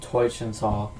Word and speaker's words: Teutschental: And this week it's going to be on Teutschental.